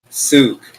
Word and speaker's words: souk: Souk. You mean like souk? Like Souk. market? Yeah. Yeah, I haven't been to many Arabian markets. I'm sorry. it's pronounced souk.